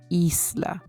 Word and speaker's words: isla: in b e b so the mouth is a bit open and the lips are not rounded so e as in Isla which means Island the